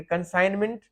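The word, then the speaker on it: consignment: ए जाति है तो कहते हैं की कंजाइनमेंट जी साइलेंट है और यहां पे ये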